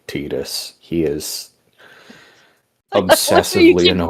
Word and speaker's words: Tidus: His name is spelled Tidus, so he is Titus, and Titus Deletus.